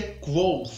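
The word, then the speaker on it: Kvothe: chama gol é verdade a pronúncia é co mas é um saco para esse comportamento tão próprio registro aqui no vídeo vai ser coach ok beleza combinado então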